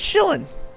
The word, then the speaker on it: Shillin: Is it shill or shile? It's Shillin. Shillin'? It's like Shillin like a chillin'?